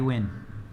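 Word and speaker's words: Nguyen: It's spelled n g u y n. That's how you spell Scotty win.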